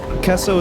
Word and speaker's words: queso: anyway keso is like a lot more accurate because you're not adding random y's to the sound like though i'm not